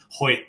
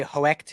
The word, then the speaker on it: Hoecht: And just a quick note, it's Hoyt, not just correct your pronunciation. Sorry. I do always say Hoecht because it's spelled like that.